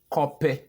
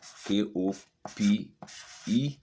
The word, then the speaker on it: Kope: Copy means nothing. Okay, there's no meaning in our word as copy. Doesn't make sense to anybody. Are we educated or we are not? Okay, copy means nothing. K-O-P-E.